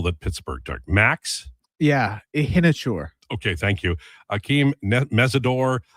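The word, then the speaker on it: Iheanachor: How do I pronounce the name of the offensive tackle that Pittsburgh took? Max? Yeah, Ihinachur.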